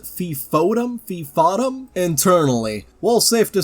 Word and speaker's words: FFOM: Chris Evans, no, not that Chris Evans says, "Today is the first Friday of the month, or FFOM, pronounced Fifm."